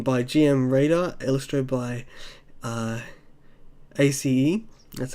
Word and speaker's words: ACE: And next up, we've got Illusion by GM Radar, illustrated by ACE. That's how you pronounce it.